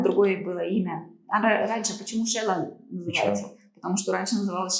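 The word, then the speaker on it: Xela: И буква X, которая читается как Ш, это вот из местных языков.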